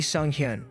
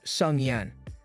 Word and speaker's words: Sung-hyun: He introduces himself as Lee Sung-hyun, which Kim mispronounces as Sung-yan.